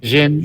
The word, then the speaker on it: djinn: When I think of Wishmaster, I think of that part because he's the guy where the Djinn, is that right? How you say it? Jin. Yeah, Jin. Jin.